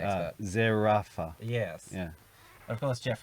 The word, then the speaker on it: Zerafa: town of Bendigo between Jeff Horn and Michael Surveyor. Is that how you say his name? You're the name pronunciation expert. Zerafa.